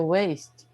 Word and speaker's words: waist: It's your waist. And we use that also to say waste, the same pronunciation, waste, when you waste something, right?